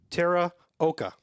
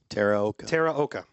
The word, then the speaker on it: Teraoka: It is Teraoka. Teraoka. Nice. It is Japanese, and it means temple, the Tera part, and hill, the Oka part.